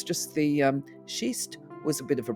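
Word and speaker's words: schist: Now, when I say shist, it's got an s in it.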